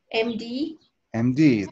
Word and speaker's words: MD: md md that's right so even though this is just the letter the letter m but if we sound the sound of the letter m is sort of like em you know so that's a